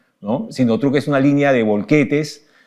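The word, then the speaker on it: Sinotruk: marca sinot truc no en el mercado dicen sinotrack pero la se pronuncia sinot truc no sinot truc es una línea de volquetes y de este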